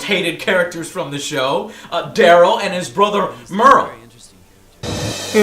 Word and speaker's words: Merle: And he plays Daryl. And it's spelled D-E-R-L-E. It's not Daryl, it's Daryl. Please get that right.